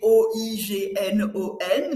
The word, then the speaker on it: oignon: Donc maintenant, quand tu apprends euh oignon, il s'écrit O i G n o n mais tu le prononce oignon alors que o I se prononce.